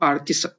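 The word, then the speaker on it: артист: पर इसको जैसे पढ़ते हैं तो ये जो स की साउंड होती है वो कम हो जाती है। तो आर्टिस्ट, आर्टिस्ट, आर्टिस्ट।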